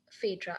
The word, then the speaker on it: Phaedra: - Thanks Luke, Jeff, Phaedra, am I pronouncing your name, correct?